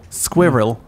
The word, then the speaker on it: squirrel: Squirrel. Yeah. Squirrel. Look how it's written. It's a double syllable.